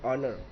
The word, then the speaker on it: honour: ऑनर लिखना है, एच भी लिखना है, लेकिन बोलना है ऑनर।